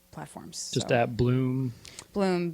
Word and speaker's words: Bleum: Bleum, Bleum.